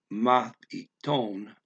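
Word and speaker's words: μαθητών: Okay, one of his fellow mathiton, mathiton, mathiton. Again, I'm trying to stress that math. It's not. You got to say it flat. I mean, the syllable unstressed.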